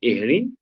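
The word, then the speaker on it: Jhering: D'ailleurs, notre grand professeur allemand Rudolf von Ehring, même si c'est écrit Gehring, il est prononcé Ehring, précise que la forme est la sœur jumelle de la liberté.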